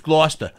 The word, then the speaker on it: Gloucester: town oh yeah no it's spelled like Gloucester but right it's Gloucester and then there's also